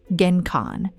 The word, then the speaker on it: genkan: They stop at the genkan, pronounced genkan.